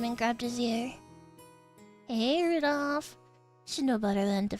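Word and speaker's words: Rudolf: No, it's just Anyway, this guy's name is pronounced Rudolph.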